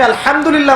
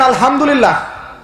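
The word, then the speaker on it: الحمد لله: না হাসতি এটাকে বলে বড় হা উচ্চারণ কোথা থেকে করতে হয়? মাঝখান থেকে এখানে যদি আপনি আলহামদুলিল্লাহ বলেন অর্থ হচ্ছে সমস্ত প্রশংসা কার জন্য? আল্লাহর জন্য। আলামিন। তিনি জগৎসমূহের প্রতিপালক। যদি বলেন আলহামদুলিল্লাহ।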